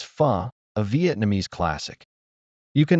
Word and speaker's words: pho: Imagine you're dining out and someone says, "Is it fo?" You reply, "No, it's fu."